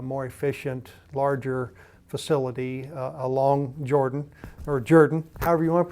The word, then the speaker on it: Jourdan: building a new, more efficient, larger facility along Jordan, however you want to pronounce it. Very good. It's Jourdan.